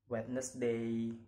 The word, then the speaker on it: Wednesday: Okay, the next is example of silent letter D. Wednesday, handsome, sandwich.